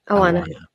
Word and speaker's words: Awana: She found, how do you pronounce this? Awana? Yes, Awana.